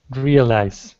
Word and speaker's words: realize: Realize. Yeah, it's actually two syllables, not three. It's not realize. It's real eyes.